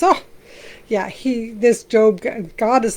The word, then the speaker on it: Job: We are in the book of Job, and not spelled Job, but it's pronounced Job.